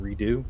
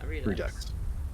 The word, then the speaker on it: Redux: which is Roleplay Redux, I think that's how you say that, unless you pronounce it Redo. I think it's just Redux. Yeah, Redux.